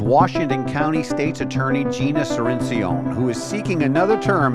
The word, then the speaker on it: Cirincion: With me is my distinguished guest Gina Serene Ceon. How do Is that good pronunciation?